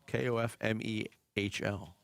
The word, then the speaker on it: Kofmehl: Where are you getting the U sound from? It's Kofmehl. M-E-H-L. Meal.